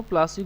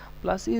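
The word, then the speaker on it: Plassey: यहाँ पे एक वर्ड है, डू you know प्लासी गॉट its name, प्लासी का नाम कैसे पड़ा? प्लासी इज an anglicised pronunciation of पलासी।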